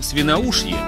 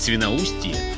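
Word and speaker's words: Świnoujście: Польский Свиноушье и немецкий Сасниц. Ну, так написано. Хотя правильно говорить Свиноустье и Засниц, но это смысла не меняет.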